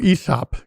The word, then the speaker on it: Aesop: This is, you pronounce it like Aesop Fables? Aesop? Oh, Aesop.